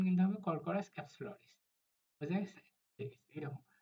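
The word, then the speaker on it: Corchorus capsularis: কিন্তু এটার সঠিক উচ্চারণ কিন্তু হবে কর্করাস ক্যাপসুলারিস।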